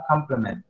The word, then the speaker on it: compliment: Jadi cara bacanya adalah complement. Oke, complement. Jadi bacanya ini anak-anak sekalian adalah complement. Kalau ini juga bacanya adalah complement. It's same, sama ya. So there is no difference in reading these two words.